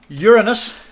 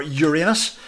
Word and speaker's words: Uranus: jibber next then Saturn then Uranus or Uranus if you particularly fancy the pronunciation like that and then Neptune is